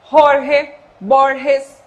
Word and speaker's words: Jorge Borges: esse som aí do, tanto o G quanto o J, esse som do R aqui na garganta, né? Jorge Borges, certo?